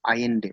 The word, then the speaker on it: Allende: तो 1970 में चिली का प्रेसिडेंट था ये जो मैंने आपको दिखाया, सल्वाडोर आयेंडे। ठीक है, तो the spelling is ALLENDE। Okay, pronunciation क्या है इसका? आयेंडे, सल्वाडोर आयेंडे।